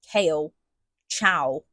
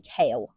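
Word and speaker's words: Chaol: of Throne of Glass where I pronounced Kale Cow for like the first three readroughs of that series. And then I realized on like the third or fourth read through that it was actually kale and not ciao.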